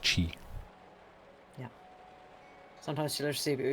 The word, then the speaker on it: qi: It's pronounced chi.